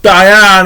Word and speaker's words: Diane: And by the way, it is spelled Diane as in DIE hyphen ANN, like Diane.